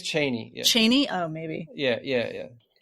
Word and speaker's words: Chani: But if you want to know how Frank Herbert pronounces it, he says Atreides. And isn't it Chiani instead of Chani, or is it with the other way around?